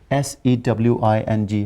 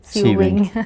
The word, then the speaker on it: sewing: is the woman is s e w i n g how will you pronounce it s e w i n g sewing good most of the people say saving because that is saving machine so the woman is